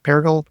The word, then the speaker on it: Paragould: you're from a little town in Arkansas called Paragould. Did I pronounce that right? Paragould?